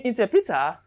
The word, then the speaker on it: interpreter: fourth syllable in step in interpreter t is stressed t is stressed why any time a word ends in iaro the stress will be on the third syllable from the end in t this is